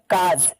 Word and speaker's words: cause: आप देख पा रहे हैं CAUSE, इसमें जो यू है इसको साइलेंट कर देंगे और पढ़ेंगे काज।